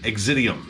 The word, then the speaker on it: Exitivm: newest offering from pestilence exidium i think that's how you pronounce that there's a lot of v's in the place of views i hate that but